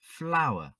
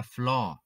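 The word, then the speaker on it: flour: Nếu thêm chữ fl, chúng ta được danh từ bột, flower, flower. Quý khán thính giả tuyệt đối không đọc là floor, chúng ta đọc là flower.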